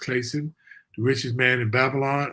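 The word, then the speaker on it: Clason: C L A S O N George Claym is pronounced Clayson.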